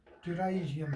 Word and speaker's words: pterygium: ट्राइजियम P silent है यहाँ पर बेटा, पी साइलेंट, PTERYGIUM, ट्राइजियम.